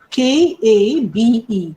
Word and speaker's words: Kabe: It is K-A-B-E, Kabe, K-A-B-E, Wilson. Wilson just spelled like Wilson, W-I-L-S-O-N, Kabe Wilson.